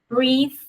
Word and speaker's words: breathe: So, breath, sem o E, breathe, com o E.